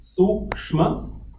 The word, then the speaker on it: sukshma: Sukshma shariram. Let's pronounce that. Sukshma, S, capital U. So it is Su and K, Suk, SH, Suksh.